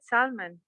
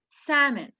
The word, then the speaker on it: salmon: the er again yeah i said salmon but this is incorrect why because the l is silent it's salmon salmon yes salmon with no elf salmon and even the the m-o-n are not mon it's they are like men salmon okay i i want